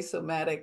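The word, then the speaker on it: psomatic: was in and I when I say somatic I'm spelling it with a p a silent P at the beginning somatic than than it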